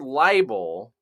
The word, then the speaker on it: libel: characters is liable which the word libel and I'm going to spell that out too because it does sound like liable but this is right